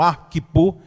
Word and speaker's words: Arquipo: eu tive foi essa: como se trata de um nome grego, de um nome gentílico, então a sílaba tônica vem na primeira sílaba. Então Arquipo talvez seja a pronúncia mais correta, não é?